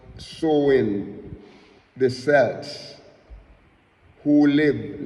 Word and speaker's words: Samhain: an ancient Celtic festival of Samhain, and it pronounced Samhain. It pronounced Samhain.